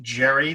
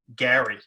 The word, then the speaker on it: Gerry: for whatever reason elbridge jerry the guy that gerrymandering is named after you were supposed to pronounce it they did pronounce his name in those days gary so technically it should